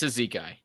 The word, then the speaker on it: Cizikas: The Foxes of the world, the Dickinsons, the Casey Cizikases, and he's just a really good pickup. It's Cizikai. Cizikai, is that how you're gonna say it? No, that is how you say it.